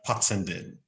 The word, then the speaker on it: Pattenden: just dive straight in who is parsonde thank you for pronouncing my name correctly um so what would